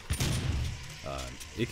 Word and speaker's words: ich: And I found that apparently you're not supposed to be pronouncing the CH so hard as I was in German.